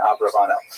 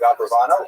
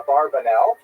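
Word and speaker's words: Abravanel: uh late 15th century as we see in Abraano. Uh much of this material is drawn from a very famous biography of Don Isaac Abraano. I should mention by the way many people pronounce the name uh Abarbanel and that's because of the uh it's much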